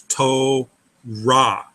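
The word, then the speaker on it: תּוֹרָה: So you move that R over to the A, and it becomes Torah. That's a better pronunciation to Hebrew.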